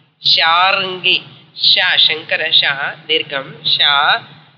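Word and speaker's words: शार्ङ्गी: Sharangi is Banam, where is called Sharangi. Vishnu Murti, like Sarangi they call, but real word, correct word is Sharangi. Sharangi.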